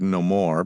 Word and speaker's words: no more: The word no more being used then in letters, speeches, and sermons as one word with the accent on the second syllable.